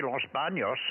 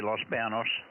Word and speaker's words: Los Banos: you said you said Los Banos fine it's a it could be Los BOS Los Banos with a Tila over the end but most people just say Los Banos and that works well